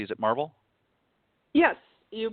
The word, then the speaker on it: Marvol: Is it Marvel? Yes, you pronounced both. Marvel Bernard.